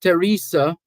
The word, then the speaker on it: Teresa: How can I get, and by the way, the pronunciation of this name, T-H-E-R-E-S-A, the H is silent. So it's Teresa as opposed to Theresa.